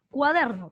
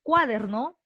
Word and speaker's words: cuaderno: de voz está aquí cuaderno tú dices cuaderno cuaderno o cuaderno tú dices cuaderno cuaderno o cuaderno cuaderno entonces la fuerza de voz está aquí en el medio en la segunda entonces